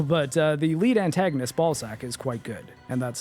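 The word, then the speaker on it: Balzac: But uh the lead antagonist, Ballzac, is quite good. And that's spelled B A L Z A C.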